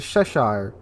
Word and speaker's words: Cheshire: Moving on to number 3, we have the tier 8 British heavy cruiser, the Cheshire, or Cheshire. I was told to say it like the Cheshire cat.